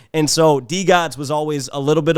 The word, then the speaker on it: DeGods: that first episode yet i've always pronounced it the gods because i'm from detroit and that's how we pronounce pronounced detroit and so d gods was always a little